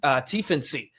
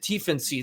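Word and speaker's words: Tiefensee: Um and then one last shout out, a shout out to uh Arno to Tency. That's that's how you pronounce it. Tensy, the German goalender who we've discussed here uh quite a bit recently.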